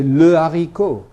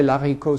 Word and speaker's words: le haricot: But don't people say l'haricot sometimes? No, they never do. They say le haricot. Because there is an H there, but it's not pronounced. But it makes l into le.